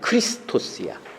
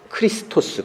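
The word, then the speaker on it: Χριστός: 그리스도라고 하는 그 단어 우리는 그리스도라고 하지만 그 그리스도라는 말에 헬라어다는 크리스토스야 크리스토스 그래서 그것을 우리말로 다가 그리스도라고 발음을 하는 거예요 근데 크리스토스는 어떠한 단에서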